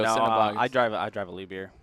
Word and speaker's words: Liebherr: I drive a Liebherr. Lever, okay.